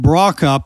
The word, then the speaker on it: Brokopp: to me, and Brokopp. That's the way we say it, right? You got it.